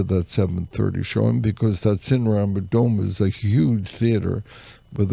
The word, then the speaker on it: Cinerama Dome: The Cinerama Dome.